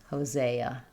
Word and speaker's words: Hosea: In Hosea, letter S says the Z sound and we have the letter E says A. The final A says uh. So, Hosa. Hosea.